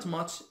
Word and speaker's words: much: Not much, كلمة much بمعنى كثير, ولاحظ أنها تكتب على شكلة M-U-C-H, ويو هنا تنطق على شكلة A في النطق فتصبح much, فنقول not much, I'm good, أنا بخير, أو نقول I'm great, أنا بخير.